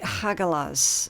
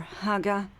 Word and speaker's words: Hagalaz: Now, your rune message for this month is going to be Hagalaz, okay, or Haga, depending on how it's being pronounced. Both are correct.